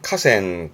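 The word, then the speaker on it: 河川: 발음은 카센. 카센. 주로 N3 때 많이 언급되는 단어긴 합니다만은 그런 강과 시내를 아우어서 하천 그러는 하천의 가센 가센 음돈이 정도고요.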